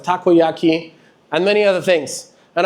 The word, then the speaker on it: takoyaki: I said taroyaki instead of takoyaki, and many other things.